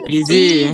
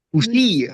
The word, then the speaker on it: busy: Cara bacanya Busy. busy. Busy. Sebelum tahu kalau cara bacanya busy, kalian bacanya apa? Busi ya.